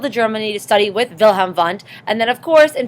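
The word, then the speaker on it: Wilhelm Wundt: physical thing this is vham vont he is the father of psychology right he is German So when you say his name you have to say it vham vont right that's who he is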